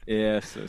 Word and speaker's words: ELO: ESO, see, that's the Icelandic pronunciation. We call it ELO.